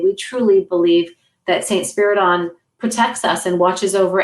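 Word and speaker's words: Spyridon: say it wrong, but Saint Spider, how do you say Spiriton.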